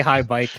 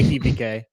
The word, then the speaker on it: Hibike: I want to say it incorrectly, but I'll say it correctly for the. high. I won't say high bike. I'll say Hibike.